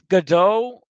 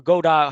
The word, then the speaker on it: Godot: the best application to start 2d projects um godot um or godot how are you pronouncing g-o-d-o-t is an upcoming um game engine